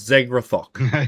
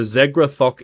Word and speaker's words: Zegrath: The word is Zegrath. Yeah, I know, right? What? Zegrath. So, Zegrath is the demon who originally created it.